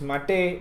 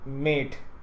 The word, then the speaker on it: MATE: and by the way it is mate not mate the reason is because the people who wrote who developed this distribution they came me developed this desktop they named it m named after some South American drink so it is called